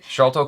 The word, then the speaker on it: Sharlto: I think because in my brain it's like an S name, but when I said it out loud, it sounded like a CH. CH. Yeah, like Charlie Chaplin. But anyway, Sharlto Copley is the actor I'm thinking of.